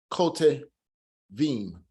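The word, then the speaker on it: כותבים: So it's telling you that at this particular time, ko te instead of ta, kote vim.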